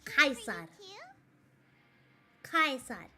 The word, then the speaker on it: Caesar: you know why because the word Cesar actually in Latin is pronounced as kais kaar so the thing is